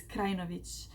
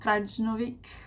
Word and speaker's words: Krajnovic: And my last name is Krajnovic, so it's not Krajnovic, or I think that's what the most people do.